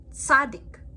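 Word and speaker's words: צדי: Tzadik. Tzadik makes a TS sound at the end of the word, like in pants or nuts.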